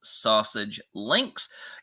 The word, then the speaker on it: SASG Links: Yes, the name is pronounced Sausage Links.